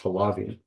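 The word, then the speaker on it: Haliva: the military intelligence director Aaron Hali I think it's pronounced halavi yes it is uh Aaron halavi uh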